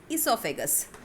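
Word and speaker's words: oesophagus: Spelling O से start होती है पर ओ is silent here, we pronounce it एज इसोफेगस, ठीक है।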